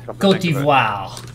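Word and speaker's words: Côte d'Ivoire: or Cote d'Ivoire, I'm not sure on the pronunciation. Cote d'Ivoire.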